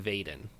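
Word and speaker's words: Veden: why Eliot one for vet and but it's pronounced Bayden okay and she's from Vaden are so yep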